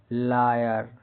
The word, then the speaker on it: liar: जब किसी वर्ड के बीच में AI हो तो AI का उच्चारण भी साधारणतः आ ई अ होता है। जैसे LIAR लायर। यहाँ पे क्या है, AI का उच्चारण लायर आ ई अ जैसा होता है।